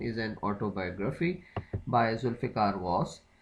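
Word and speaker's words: Ghose: है जी Zulfikar was वॉस के spelling जी एच ओ एस ई है जी एच ओ एस ई वॉस हो गया उसके बाद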